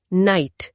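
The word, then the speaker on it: knight: 150 नाइट योद्धा क नाइट के एन आई जी एच टी शुरू में साइलेंट के है।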